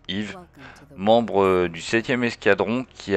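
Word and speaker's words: Eve: incarnerez EV ou Yve donc e ve hein mais se prononce Yve membre du 7e escadron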